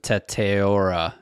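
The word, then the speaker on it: Tetairoa: They have him taken a wide receiver, and Justin's going to pronounce his first name for me. Well, nobody calls him Teteora.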